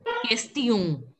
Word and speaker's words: question: Wherever there's an O-N, you pronounce it as O. Question. You don't have to pronounce the N in the N letter, the last letter. You have to pronounce it as question and a nasal sound.